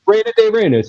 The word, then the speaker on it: Reina de Reinas: I usually butcher the Spanish language, in all honesty. Reina de Reinas, you said it right.